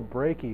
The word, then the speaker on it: Brakey: One is Bill Brakey, who says his name rhymes with achy.